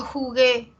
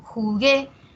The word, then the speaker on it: jugué: ayer con mis amigos no jugué lleva tilde eh Porque es aguda jugué no Y además primer requisito es aguda y segundo porque termina en vocal por favor no vayamos a decir jugu se tilda porque está